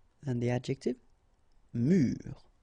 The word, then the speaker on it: mur: Un mur. And the adjective, mur. Okay, so un mur and mur.